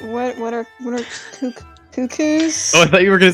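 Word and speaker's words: Cuccos: losing his cupcakes and i think it's pronounced cuckoos that you haven't all called it cacoos your whole life what no it's what's a texture like it's like cuckoo like cuckoo bird i would know i'm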